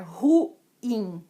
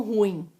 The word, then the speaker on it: ruim: Porque o correto é você falar ruim, não ruim.